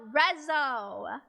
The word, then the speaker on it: RESO!: first song that released as not resolution but rezzo the first song that released as rezzo from